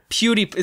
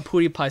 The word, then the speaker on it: PewDiePie: phenomenally well right can you say that kiddy pronounce his name again please Pootie pie yes I say it's floating by PewDiePie PewDiePie huge upon you I've been calling him I've been calling him pudy pie since I was 12 and it's just perfect